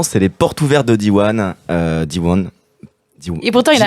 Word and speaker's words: Diwan: cerveau à la prononciation donc c'est Diwan avec un petit n à la fin dit one donc un réseau d'école